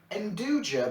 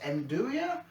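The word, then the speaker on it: 'nduja: give this a go they say it's got spicy induja but I believe it's pronounced enduria sausage on it now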